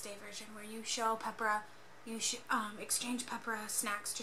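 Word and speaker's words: Pepero: So it's Peppera, or spelled Peppero, but it's pronounced Peppera, according to my Google.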